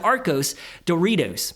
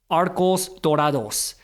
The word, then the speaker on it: Arcos Dorados: then you invest into Arcos Doritos. Am I pronouncing that right? Dorados. Dude, I took Spanish for like 5 years. I'm still ass. I can't even say, hold on, Dorados. Arcos Dorados.